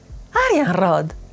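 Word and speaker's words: Arianrhod: Arianrod. Arian, silver, rod. The stress is on the an.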